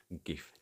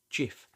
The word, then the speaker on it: GIF: Is it a hard G like GIF, graphics interchange format, so G as in graphics, or a soft G like GIF as its creator originally intended?